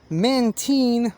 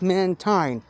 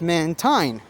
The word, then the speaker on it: Mantine: molly actually pronounces it mantine but oops of cour according to official pokemon pronunciations this thing is pronounced mantine it's a combination of manta and marine marine is a word